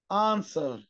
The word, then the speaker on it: answer: كمان الدبليو هنا سايلنت، تو answer to answer.